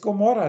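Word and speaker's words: Gomorrha: Das ist das Golem, Gollum, und hier das Gomorra. Da wird vorne das Gomorra, wird zwar mit G ausgesprochen, ist aber auch eine 70.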